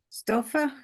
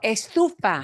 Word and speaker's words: estufa: Stofa? Is that stove means stove? Oh, estufa.